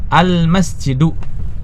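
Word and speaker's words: الْمَسْجِدُ: Almasjidu tidak dibaca tanwin. Kenapa? Ada alif lamnya.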